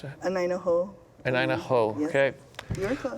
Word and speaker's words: Anaina Hou: Pisciotta is the president of the Mauna Kea Anainahau, a native, how do I pronounce that? Anainaho.